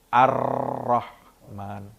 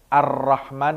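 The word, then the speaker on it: الرحمن: tadi itu apa sih Arrohman di atas rok itu ada tasydid kalau Ar Rahman kita bacanya ar-rahman tidak menggunakan tasydid ar-rahman nirohim arrohmanirohim tidak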